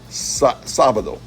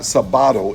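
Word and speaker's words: sábado: and sabado you don't it's not Sabato it's sabado so there's an accent mark on the first syllable of that three-syllable word so that you know to pronounce it sabado and not sabado there's an accent mark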